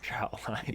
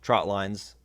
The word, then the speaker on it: trotline: and your message so as you're talking about trotline's share that message that it's a trotline this is a trotline that we're setting today